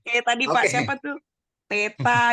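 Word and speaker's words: θήτα: Teta, itu benar kita bilangnya teta. Bukan tita. Oh, iya. Salah kita ucapannya.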